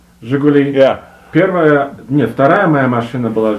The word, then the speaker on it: Жигули: Let's start with, I'm going to mispronounce it, Zhigulik. Жигули.